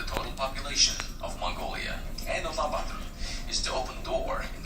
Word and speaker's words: Ulaanbaatar: Let me see if I pronounce the name real quick. Hold on. Nope. Ulaanbaatar. Huh? Ulaanbaatar.